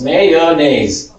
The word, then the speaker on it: mayonnaise: Mayonnaise. If you're in the blue area, mayonnaise.